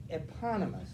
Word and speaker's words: eponymous: able to use it eponymous look at that if you want to know how to pronounce it it's the second syllable gets the accent economist and i i